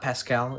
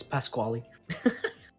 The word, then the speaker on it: Pasquale: It's not Pascal. It's Pasquale. Pascal's a thing in like NVIDIA graphics cards.